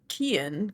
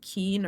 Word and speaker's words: Cian: It's Cian, but what I looked up said like Keen or Kian.